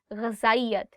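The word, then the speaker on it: غذائیت: There are two alphabets in Urdu. One is ze and one is zal. And there is a slight difference in how you say it. For example, in this one, you are saying ghazayat. And the one that is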